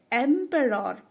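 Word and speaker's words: emperor: एम एम पी ई आर क्या हुआ पेर एंपरर एम एंपरर एंपरर लिखते हैं एंपरर फर्स्ट सही प्रोनाउंस है एंपरर एंपरर का मतलब है सम्राट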